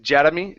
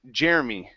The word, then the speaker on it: Jeremy: gentlemen wrote okay so watch that are in the middle instead of jeddah me jetta it's jer Jeremy Jeremy okay very good next